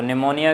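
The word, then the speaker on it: pneumonia: में अ है तो निमोनिया की स्पेलिंग पीछे शुरू होती है 37 साइलेंट रहती है क्या उसकी निमोनिया की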